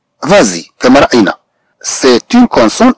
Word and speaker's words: vas-y: إذا سنقرأ هاد S نقول فازي، هي وضعت لكي تنطق حتى يكون هاد الوقع ديال هاد النطق جيد على الأذن، لذلك وضعت هاد S.